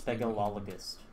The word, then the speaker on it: speleologist: It's speleologist, please say it correctly. Speleologist? Speleologist. So, alright. Try and remember that. So it's like spell and then ogogogus, you know? Spell ogogogus. If you don't sound like you're having a seizure when you say it, you're not saying it right.